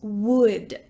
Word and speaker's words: would: The second word we're going to talk about today is wood. Wood. This is the same pronunciation as a tree is made of wood.